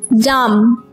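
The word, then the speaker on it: dumb: डम, यहां पर भी बी को नहीं पढ़ेंगे।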